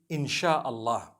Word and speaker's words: InshaAllah: If you look at, the Malay language, they write in inshaAllah, the SYA. They pronounce the SY the way we pronounce SH.